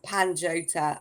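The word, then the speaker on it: Pantoja: And at the time, I could not pronounce Panjota. It took me months to learn that it was Panjota.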